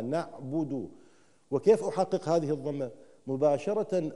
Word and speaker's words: نعبد: الباء مضمومه الباء مضمومه الباء مضمومه اؤكد على حركه الباء الباء مضمومه لان الكثير منا او من اسمعهم يقرا الباء مكسوره خطا ليست نعبد وانما نعبد وكيف احقق هذه الضمه